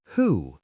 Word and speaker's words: who: Who. The W is silent.